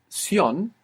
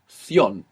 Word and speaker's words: ción: And this C-I-O-N is pronounced sion, like an S, in most of the Spanish-speaking world, or in most of Spain, it's pronounced ción. So you can choose, if you have a particular affiliation for Spain, you can make this th. If not, I suggest using the s sound, because the majority of